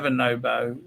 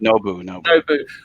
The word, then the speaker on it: Nobu: We don't have a Nobo. Nubu. How do you pronounce it? Nobu.